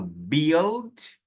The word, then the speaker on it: build: E aqui você tem um lugar onde a letra U é muda e a letra I tem som. Onde a letra U tem som e a letra I é muda. O oposto de uma palavra e outra. Ó lá, eu falo build, build e falo business. Business.